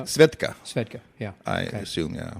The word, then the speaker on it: Svedka: Am I pronouncing it correctly? Svedka.